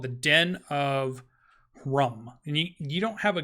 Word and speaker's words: Hrumh: rum, and it's just, think of it as more of a guttural kind of roar. Kind of like a deep like rolling in the throat.